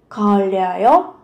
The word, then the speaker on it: 걸려요: Thì ở đây các bạn cần chú ý, khi mà phụ âm riêng riêng kết hợp với nhau, các bạn sẽ phát âm giống âm L. 걸려요.